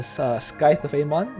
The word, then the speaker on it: Scythe of Amon: So next we'll have Medieval Times on Scythe of Amon, that's how it's pronounced, with Black Death and Transmutation.